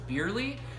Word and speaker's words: Bierly: It's pronounced Bierly, and a lot of people ask where that name came from.